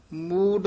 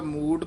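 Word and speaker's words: ਮੂੰਡ: चीनस आत्म राम रहा मूड मुंडाए जो सिध पाई पहला मूड पद है दूजा टिपी लगी हुई है मुंडाए ध्यान नाल उच्चारण करना मड नहीं कहना मूड मुंडाए जो सिध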